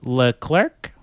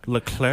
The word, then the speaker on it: Leclerc: It stars Katie L. Clerk and Ryan Cooper. Yeah, I think you I I'm pretty sure you pronounce L clerk. Llair.